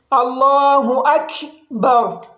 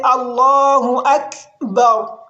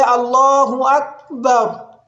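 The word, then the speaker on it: الله أكبر: it is to say Allahu Akbar. And don't let the sound fade completely. For example, I say Allahu Akbar.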